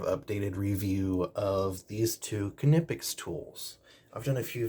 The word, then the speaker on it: KNIPEX: say to say it you go to the kipic website they sell a t-shirt with the pronunciation on the t-shirt and it is kipic so those of you that say IEX you can keep saying it but I'm going